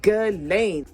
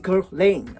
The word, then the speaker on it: Guerlain: Like, I used to say Guerlain. This is me now saying Guerlain, okay?